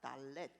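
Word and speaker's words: דלת: 메이트가 나옵니다 바달 요게 달레트 아고 하는 단어입니다 달렛 디귿자 발음이 나는 거예요 달레트 문이라고 하는 뜻을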